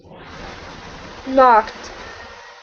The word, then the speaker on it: knocked: now this word here instead of being no knocked is n knocked knocked great nice job okay